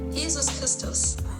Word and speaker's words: Jesus Christus: In German, Jesus Christ is Jesus Christus.